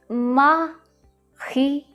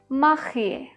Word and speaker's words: marié: The third word, marié, marié. So we have a very weird R sound in French that comes from the epiglottal.